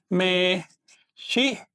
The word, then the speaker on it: mexica: Náhuatl mexica.